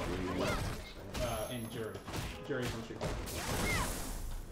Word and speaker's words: Ryu: It's pronounced Ryu.